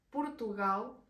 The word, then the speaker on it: Portugal: pronunciado por tu guías Portugal suena como con una u al inicio el siguiente sería Brasil